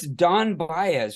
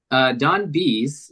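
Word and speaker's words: Don Bies: Who's this Don Baez? Wasn't he like one of the creators in the prequels? Don Bees is pronounced.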